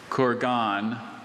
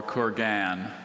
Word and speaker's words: kurgan: Kurgan or Kurgan. Kurgan, may I please have any alternate pronunciations?